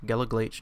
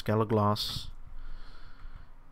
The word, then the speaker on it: Galagloss: And yes, that is how you pronounce that. It's not Glach, Galaglache, no, it's Galagloss.